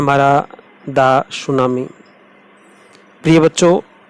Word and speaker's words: tsunami: नाम है मरा दास सुनामी मेरे प्रिय बच्चों इसमें मिट्टी है वह साइलेंट है तो इसको सुनामी कहेंगे उदास सुनाई जो कि सुनामी